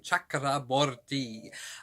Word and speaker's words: Chakraborty: i just love the sound of her name chakraborty i thought this book was okay i really